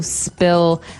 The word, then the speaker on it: spill: so spill. I spilled some milk. Okay, spilled. Now, it's pronounced differently from spell, right?